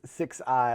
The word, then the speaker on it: Sixeye: Sixeye, that last name is pronounced Six-I, like the number 6 and letter I, and people look at that name and go, what in the world is this?